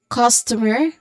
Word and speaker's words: customer: Now, so this is customer. Customer again, customer. The stressed syllable here would be on the first syllable, which is cause.